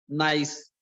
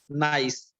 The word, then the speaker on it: gneiss: Gneiss. Gneiss. G is silent here. Gneiss.